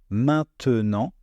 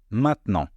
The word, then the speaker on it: maintenant: une différence et puis quand le E est placé au milieu d'un mot entre deux consonnes on ne va pas le prononcer par exemple les mots maintenant maintenant à l'écrit c'est un mot à trois syllables et à l'oral c'est un mot à deux syllabes vous voyez maintenant maintenant